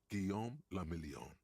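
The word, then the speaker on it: Guillaume Le Million: Gam Lamelon. If it doesn't rhyme, you're not pronouncing it right.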